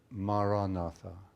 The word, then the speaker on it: Maranatha: The word I would recommend is the word Maranatha. 4 syllables, Ma-ra-na-tha. It's the oldest Christian prayer. It's in the language that Jesus spoke, so it's a very sacred word.